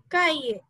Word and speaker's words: cahier: Okay, H is silent. A cahier. Cahier. No, not cahier, it's cahier. Like we say in Hindi now, kaiye, like that only, kaiye, kaiye, no, not kahiye, remember Ritvik, not kahiye, kaiye.